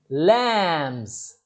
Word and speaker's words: lambs: has two lambs lambs lambs b is silent circle yes or no